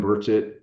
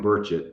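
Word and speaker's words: Burchett: briefed Andre Carson Tim burett and by the way as pronunciation of his name he made me promise to to set this straight every time it's Tim burett not burett uh so I just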